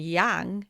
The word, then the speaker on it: yang: And yang is like bang, like pounding or getting into action, being active, being fiery.